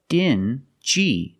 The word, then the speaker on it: dingy: These two words have the regular n sound, n, plus the j, like juice. Together, stingy. Together, stingy. Or dingy.